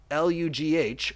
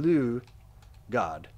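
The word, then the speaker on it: Lugh: Lu, God. Lu, Wikipedia. Okay. Lug, or Lug, modern Irish, Lu. Okay, Lu is probably the right way to say it.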